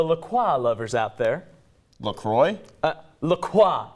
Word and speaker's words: LaCroix: LaCroix, it's actually pronounced.